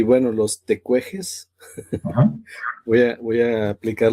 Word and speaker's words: Tecuexe: pues vamos a a respetar la fonética de la pronunciación tecueje.